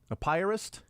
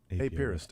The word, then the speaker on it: apiarist: Apiarist, a pyrist. That's a beekeeper. Right. Kevin Apier. I would say apiarist. Apiarist is how I would say it, right?